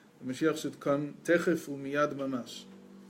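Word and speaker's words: תכף ומיד: Right, you used to say the Mashiach should come techef umiyad mamash, right, immediately.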